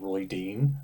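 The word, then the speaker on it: Rhuidean: like so many words royan I go for royan when I read it I don't know why I think that Michael Kramer said Roy Dean and I was like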